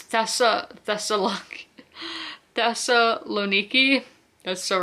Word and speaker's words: Thessaloniki: And so Salanka, that's not how you say it, is it?